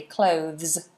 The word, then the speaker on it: clothes: now you know how to say it correctly clothes um so cloth and clothes good all right